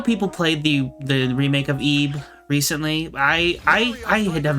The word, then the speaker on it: Ib: on this It's 2D pronounced Ebe.